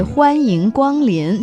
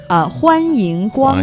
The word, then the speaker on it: 欢迎光临: You say 欢迎光临.